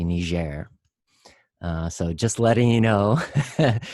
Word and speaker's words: Niger: And if you do it with the country, since it's a Francophone country, it's usually Niger.